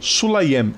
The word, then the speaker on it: Sulayem: Sulaiman ou Sulaim? Eu nunca lembro a pronúncia do nome dele. Vamos ver aqui. É dos Emirados Árabes, que é apoiador ultra ferrenho da Arábia Saudita. Mohammed bin Sulayem. Sulayem, isso.